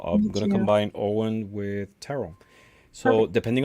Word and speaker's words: Ogham: it's pronounced Ogham is either Owen or Om. oh, Yeah. The pronunciation is very different from the way it's written.